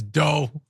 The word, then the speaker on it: DOGE: And Nick the Silver Flame Dragon says, I know Fran likes to pronounce D-O-G-E like doggy, but in my mind, it sounds more like when Homer Simpson says dough.